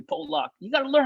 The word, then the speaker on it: Pollock: mr randy johnson's like hey paul lock he knows call me paul luck you gotta learn how